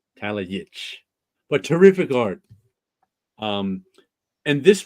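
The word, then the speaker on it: Talajić: That in a Slavic language, the J is a Y. Is a Y. See that? You told it to me 2 minutes ago. That's why it's J. So the J, I see it's Yitch. Talajic.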